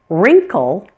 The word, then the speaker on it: wrinkle: Sometimes you'll find words that begin with WR. In this case, pretend it is just an R. That W is silent.